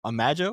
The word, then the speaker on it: Imago: the album wrong, but Imago, would that be right? Imago, it's from Imago. Latin.